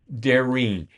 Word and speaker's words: Darene: And a lot of times she'll say, uh, it's daring.